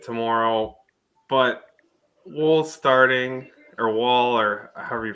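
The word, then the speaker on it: Woll: but we'll starting or wall or however you pronounce it I'm not sure yet but um w-o-l-l some people say wool but uh it's wall to me yeah yeah the um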